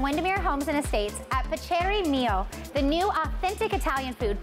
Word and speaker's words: Piacere Mio: Tell me how to pronounce the restaurant again. Piacere Mio. Piacere Mio.